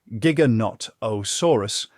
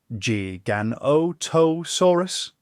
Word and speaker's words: Giganotosaurus: And here's your odd fact of the night: the name Giganotosaurus is often mispronounced. People tend to say Giganotosaurus, like it's your cousin Greg with a gym membership. But technically, it's pronounced Giganotosaurus.